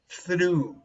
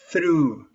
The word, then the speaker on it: through: through pronounce this please through flew through through through put the tongue in the middle of your teeth like this and immediately some through